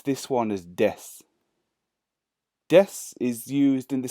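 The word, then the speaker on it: です: pronunciation you'll see in the hiragana here it's deaths it but we pronounce this one is death death is used in the same way that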